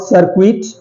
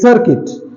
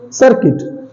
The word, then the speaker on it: circuit: Okay, last is circuit, it's not circuit, it's circuit, circuit. Sir, cir sir, cuit kit. U is silent, so cit kit, but